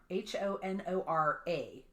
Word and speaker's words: Honora: She was born Honora Kelly, and Honora is spelled like the word honor, Honora.